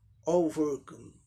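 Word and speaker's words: overcome: आर जो silent था, यहाँ आर का रॉ साउंड आ जाएगा। ओवरकम, ओवरकम, ओवरकम, ओवरकम, यही है।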